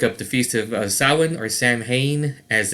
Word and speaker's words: Samhain: the feast of uh samhain or samhain as it's actually it's spelled samhain but it's pronounced samhain because it is celtic um you can look